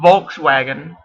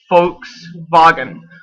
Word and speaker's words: Volkswagen: We just pronounce it a little bit different because we don't speak German. But it's actually it's not Volkswagen, it's Volkswagen, which means people's wagon.